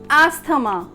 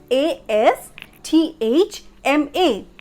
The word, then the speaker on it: asthma: fifth word is asthma now how we pronounce it as usually asthama why because of the spelling a s t h a m a that th because it's a syllable the blending syllable t h but the spelling is a s t h m a and it must be pronounced as asthma asthma a s m u h ma asma so here the is silent it's asthma let's have an example